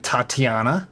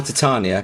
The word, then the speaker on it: Titania: So I quickly reacquainted myself with Tatiana, your Or Titania. Or but Titania. Americans can't pronounce it.